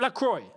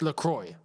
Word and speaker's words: Lacroix: It's LaCroix. Okay, cool. Just so then, you see, when commentating, I got to know what most people will understand. If I try to go a little bit too, deep on this, and I say his name for how it's actually meant to be said, La Croix, people are going to